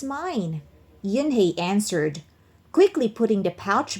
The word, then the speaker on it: Unhei: It's pronounced Yhi.